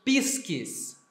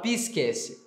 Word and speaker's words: pisces: Na pronúncia reconstituída, nós leríamos pisques, né? Pisques, no plural, pisces.